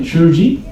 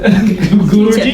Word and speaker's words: Guruji: Shuruji? Guru. Guruji?